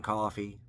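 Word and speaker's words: Coffey: Michael Clark Duncan plays John coffee like to drink but not spelled the same uh Sam Rockwell's in it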